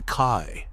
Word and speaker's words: Kai: The system was called the Kai, pronounced K.